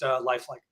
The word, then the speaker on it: Lifelike: But no, we're pronounced lifelike. Lifelike, because everything is so lifelike.